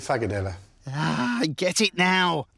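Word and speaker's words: frikadelle: So, in Danish, they pronounce it Fagadella.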